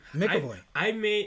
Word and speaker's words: McAvoy: McAvoy.